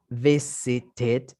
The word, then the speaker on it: visited: Visit termina en T. Y en pasado, pues como termina en ed, yo tengo que pronunciarlo como visited.